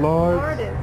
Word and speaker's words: Lourdes: Oh, how do you say your name? Lourdes. I think Lourdes.